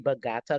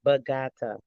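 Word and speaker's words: Bogotá: 1611, the first Jesus Church came and took over the indigenous land, killed over 3,000 indigenous people in Bogota, Colombia.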